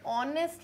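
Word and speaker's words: honest: कर रहे हैं ऑनेस्ट क्योंकि एच क्या है साइलेंट है एच का साउंड नहीं आ रहा है एच है साइलेंट हम इसको नेस्ट तो नहीं कह रहे यस क्या कह रहे हैं ऑनेस्ट भले ही एच आ रहा है हम बोल उसको ऑनेस्ट रहे क्योंकि एच साइलेंट है अब एच साइलेंट है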